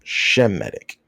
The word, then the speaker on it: Semitic: The term is properly pronounced Shemitic.